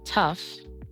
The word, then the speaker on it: tough: Rough, tough, and cough. In these words, the gh sounds like an F sound.